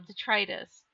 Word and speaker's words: detritus: It's the second, the long I in the middle, detritus.